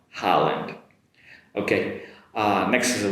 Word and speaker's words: Holland: Make the “ha” sound, “Holland”.